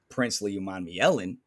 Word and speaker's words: Princely Umanmielen: edge, especially pairing him with our next pick, Princely Umanmielen.